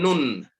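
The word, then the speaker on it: سين: Sinun. Sinun. Sinun. Sinun. Now, previously, you used to pronounce it as sin, right? Yes. Aha. If you follow that sound, it ends with N, right?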